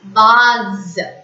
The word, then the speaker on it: vase: B-A-S-E, vase. The same rule applies. S in between the two vowel sounds.